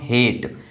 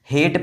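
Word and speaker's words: hate: देखिए यहां पर लिखा हुआ है हेट। हेट प्रोनाउंस कर रहे हैं ना कि हार्ट या फिर हेटी। ऐसा कुछ भी नहीं प्रोनाउंस कर रहे हैं।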